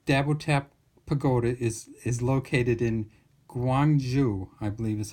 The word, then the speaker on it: Gyeongju: And the Dabotap Pagoda is located in Gyeongju, I believe is how you say it, and